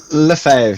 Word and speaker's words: Lefebvre: Is it Lefebvre? Am I pronouncing your surname right there? Lefebvre, yeah, I guess.